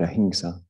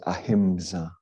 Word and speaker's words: ahimsa: people know that word ahinsa sometimes you hear it pronounced as ahimsa which is an understandable mispronunciation okay big white circle